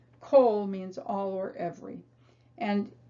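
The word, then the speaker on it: כל: it's always pronounced o it looks like it should be ah but it isn't it's always o and the word is kohl kohl means all or every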